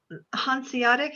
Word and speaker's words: Hanseatic: Sorry, Hanseatic, I think is how you say it.